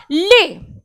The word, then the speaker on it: les: क्योंकि पहला रूल यह है बच्चों कि फ्रेंच में जो लास्ट वर्ड होता है, जो लास्ट कॉन्सोनेंट होता है, उसे आप प्रोनाउंस नहीं करते हैं, यानी कि आप एस नहीं बोलेंगे, आप लेज ना बोलकर बोलेंगे ले।